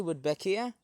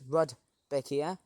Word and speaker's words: Rudbeckia: I would say Rudbeckia. Rudbeckia, I don't know how you pronounce it. Almost sounds like Rebecca, but it's Rudbeckia.